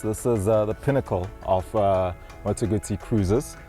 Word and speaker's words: Moto Guzzi: This is the pinnacle of Moto Guzzi cruisers. Just hearing the term Moto Guzzi, I promise you, just the way you pronounce it, 100% correct.